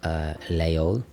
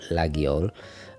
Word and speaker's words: Laguiole: of my favorite knives, Layol or Laguiole. And it's funny, every time I talk about this, some French people correct me and say, oh, it's pronounced this way, and others say, no, it's a silent G, and they can't even decide themselves.